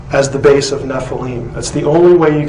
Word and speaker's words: Nephilim: constant of the naval this spelling is the ancient way of telling us that this is how you say the word Nephi Lim and therefore it cannot